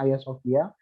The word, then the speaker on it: Hagia Sophia: Nah, ini Hagia Sophia bacanya, tulisannya, terus tapi bacanya Hagia Sophia.